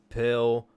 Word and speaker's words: Spill: edition of the Chill Pill podcast. And that's pill spelled with an S, but it's silent, much like the rest of America when the results come in for tonight's presidential election.